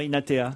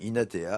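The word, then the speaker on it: Hinathea: Je connais pas ce prénom d'ailleurs, Inatea. Inatea. Ça s'écrit H-I-N-A-T-H-E-A.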